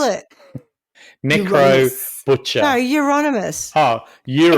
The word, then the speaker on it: Euronymous: No, Euronymous. Oh, Euro It sounds as like in some mouse called Eurovision. Yeah, Euronymous. Euro. It's like he's Nymus. Like Dixie yeah, like, Nymus. it's anonymous, but he's from Europe.